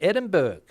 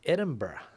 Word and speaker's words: Edinburgh: Americans also invariably pronounce it Edinburgh. Yeah, I don't know, maybe that's where the Spanish get it from, I'm not sure, but I've always been told it's Edinburgh. What else we got going on here?